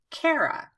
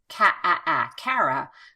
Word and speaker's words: Cara: owns the name and really we're just changing one vowel and there are more